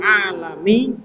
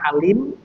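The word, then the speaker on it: العالم: rahimahullah taala, fahlul alami ini bacanya alam. Nah, ini bisa di tulisan seperti ini bisa dibaca alim, bisa dibaca alam. Tapi konteksnya di sini bacanya alam. Faahlul alam. Karena ini artinya alam semesta. Kalau alim itu orang yang pintar.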